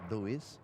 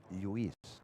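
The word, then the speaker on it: Lluís: So my name actually is not Luis, but Luis. Luis. Luis. Luis. Do like, bite your tongue like this.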